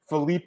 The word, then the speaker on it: Philipe: I can listen to the pronunciations. Let me hear this, Marcel. All right, let's see. Cutelaba. Philipe Lins.